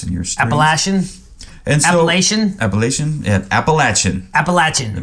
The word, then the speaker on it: Appalachian: that apple AA Appalachia Appalachian I don't know uh I know some people might have a opinion on that one oh yeah anybody from that area it's appalachin fa and yeah timy